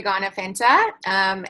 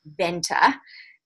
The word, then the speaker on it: Garner-Fenta: My name is Garner-Fenta. And if you are tuning in from anywhere in the States, you would probably pronounce my surname as Venta.